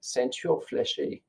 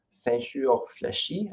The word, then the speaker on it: ceinture fléchée: So today, in honor of Métis Week, to share this Ceinture Fléchée. This is a Métis sash, sometimes called a Voyageur sash in midship. Ceinture Fléchée, I believe, is the correct pronunciation.